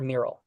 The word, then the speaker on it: Meryl: It's pronounced Meryl or Meryl?